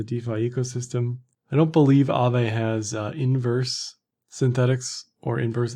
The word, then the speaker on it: AAVE: So I'm not finished, but I think it's pronounced AAVE based on what I've heard people pronounce the coin as. It is the Finnish word for ghost, which I found out yesterday.